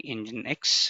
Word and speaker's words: nginx: you what is nginx it's telling engine X the pronunciation is this one it's a HTTP reverse